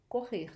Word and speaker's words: corre: It's the same pronunciation of the H in English, okay?